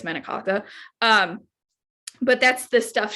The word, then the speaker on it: manicotti: wonderful idiot oh so medicate is that's like the american way that people will say it is manicotti and that's not how you say it's menikaka um but that's the